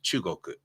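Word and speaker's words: 中国: it is but in in uh Japanese it's pronounced chugoku the was suffix it's not a suffix this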